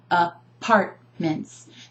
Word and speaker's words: apartments: finger tapping part mints I'm emphasizing the second syllable because we don't say up Apartments Oh apartments and we